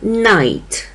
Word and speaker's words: knight: funem u góry i dlatego też to słowo czyta się płuc zamiast eksport Podobnie jest z wyrazem Night czyli rycerz Jak widzimy w pisowni tego wyrazu